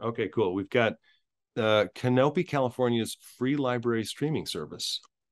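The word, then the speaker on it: Kanopy: cool we've got uh canopy california's free library streaming service they have lots it's called canopy canopy my bed it's spelled but k-a-n-o-p-y probably right they have lots of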